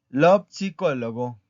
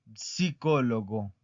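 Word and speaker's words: psicologo: Lopsicólogo, lopsicólogo. Y escuchan cómo pronuncio la P. Lopsicólogo, psicólogo. ¿Por qué? Porque la P tiene que sonar.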